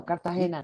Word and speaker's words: Cartagena: and what is it cartagena is the uh the vacation spot right cartagena yes am i saying am i pronouncing it correctly yes perfecto cartagena did you know what